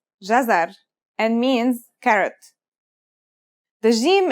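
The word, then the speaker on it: جزر: It's pronounced jazar and means carrot.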